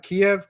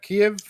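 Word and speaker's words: Kyiv: of uh uh kiev kiev kiev so if you say so so the way if you say it's the russian way to say it the the ukrainian is kiev you add the extra syllable all right so there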